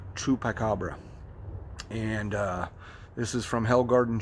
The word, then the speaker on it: Chupiecabra: That's how I'm pronouncing it, but it's spelled a little bit differently than the way I'm used to. The grower on this is spelling this C-H-U-P-I-E Cabra, C-A-B-R-A. So DK peach Chupacabra.